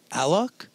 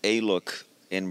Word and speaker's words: Alok: Is it pronounced Alok? Yes. There you go. You know, it's because here you usually would say Alok, right? Yeah. But if you say Alok in Brazil's like South America, people wouldn't really relate to it because there's Aloki. So that's why I try to push Alok everywhere, so we get at